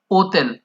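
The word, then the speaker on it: hotel: जैसे यहाँ पे हमने लिखा हुआ है होटल, लेकिन होटल में एच साइलेंट रहेगा इटालियन लैंग्वेज में। इसो ओतेल, ओतेल, ओतेल बोलेंगे, हिंदी में इसका मतलब होटल रहेगा।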